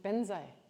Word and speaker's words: Vajra: Like there are mantras that have the words Vajra in them, but the Tibetans pronounce it Benzai. I don't know why. Benza, Benza. So Vajrasattva is Benza Sattva.